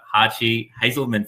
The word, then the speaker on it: Hartge-Hazelman: we're joined by bianca hachi hazelman from financing i still feel like i should be pronouncing it the german way but you got it